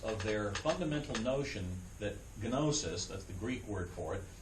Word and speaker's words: gnosis: enough we would say nosis we usually don't in English pronounce the G and the N together together but in Greek you can it' be gnosis in Greek that's how